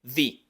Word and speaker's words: the: El artículo definido the, que se pronuncia con la lengua entre los dientes, la I larga por el contexto en el que está, the. Es como una I del español, solo un poco más larga, the.